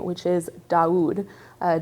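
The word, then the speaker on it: Daoud: And that's going to start with this name, which is Doud. Uh, Daud is an Arabic name. Um, and it is spelled D A O U D.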